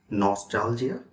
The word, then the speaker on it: nostalgia: me Nostalgia the stress is on the second sound Nostalgia it's a noun if